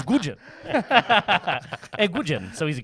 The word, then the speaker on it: Nguyen: So his name is his name is spelled Nguyen, but it's Gujin.